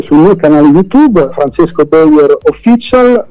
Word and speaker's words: Bejor: Allora, io sono reperibile sul mio canale YouTube Francesco Beyer Official, per la specifica Beyer si scrive con la J di Juventus o Juniores, non con la I e poi perché molti magari le cercano giustamente, certo, come l'ascoltano, no?